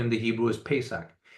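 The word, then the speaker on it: Pesach: Feast of The Seven Feast is Passover or pronunciation in the Hebrew is pesak it's the day of Liberation when you finally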